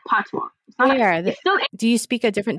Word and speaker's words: patois: a dialect it's called patois do you speak a different dialect or right so it's it's called the it's called patwa it's spelled patois p-a-t-o-i-s but it's pronounced patwa so you know jamaicans